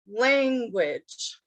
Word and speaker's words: language: the first one is language language first syllable language language okay so if we're